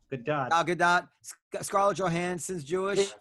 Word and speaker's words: Gadot: Pronounced Yes. Good dot. Good dot.